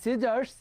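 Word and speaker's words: scissors: এখানে কিন্তু এই যে এস যেটা আছে, হ্যাঁ, এসটা কিন্তু আমরা উচ্চারণ করি সি। এই যে সি যেটা আছে, এই সি লেটারটাকে কিন্তু আমরা কিন্তু উচ্চারণ করি না।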